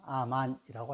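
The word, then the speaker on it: אמן: 히브리어로는 아만이라고 합니다.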